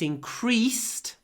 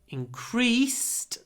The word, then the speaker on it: increase: increase in crime last year listen carefully it increased by 25% there was a 25% increase increased stresses on the E when it's a verb